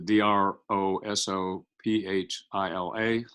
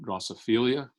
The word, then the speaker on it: Drosophila: packed inside those by the way the proper pronunciation of the dr Oso ph IL a is Drosophila it is not draw Sophie Leah occasionally you'll see movies where they mispronounce the name and call them Joseph Elia I was at meetings one time in Chicago